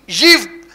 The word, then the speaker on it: ewe: EWE यीव, उसका pronunciation है यीव, EWE यीव।